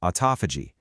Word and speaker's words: autophagy: Autophagy, and yeah, it's a mouthful. It's pronounced autophagy is basically your body's natural recycling program.